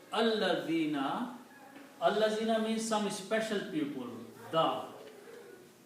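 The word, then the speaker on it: الذين: And then when we put al before that, then this is pronounced as al-ladhina.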